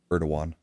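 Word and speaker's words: Erdoğan: We, you know, take we we let Erdog Erdogan, I think that's how it's pronounced. Erdogan.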